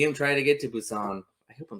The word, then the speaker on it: Busan: You see them try to get to Busan. I hope I'm saying that right. No, you are. So I always called it Buscan the whole time because my 'Cause brains there's- might have been eaten.